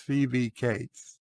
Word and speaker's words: Phoebe Cates: bob my name is phoebe cates and it's pronounced phoebe cates i was the actress who went topless in